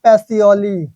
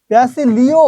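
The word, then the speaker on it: Pacioli: সেই পাগলটাকে Luka প্যাসিওলি। এটাও আছে, আবার প্যাসিলিও আছে, তবে এটাই অ্যাপ্রুভ না। প্যাসিওলিটা হচ্ছে অ্যাপ্রুভ, এটা একটু মাথায় রাখেন।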